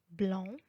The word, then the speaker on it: blanc: Mais il y a des fois où il n'est pas prononcé. Par exemple, à la fin du mot blanc, franc et bon, هنا حرف السي لا ينطق.